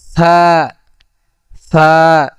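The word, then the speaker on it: ث: সাটা উচ্চারণ হবে কোথা থেকে? যে জিহ্বার আগা সামনে উপরের দুই দাঁতের আগার সঙ্গে লাগাইয়া, যে জিহ্বার আগা সামনের উপরে দুই দাঁতের আগার সঙ্গে লাগাইয়া, যেমন কি সা সা।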